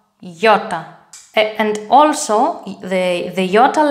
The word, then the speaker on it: Ιώτα: Take the word yard in English. Y, yo, yota.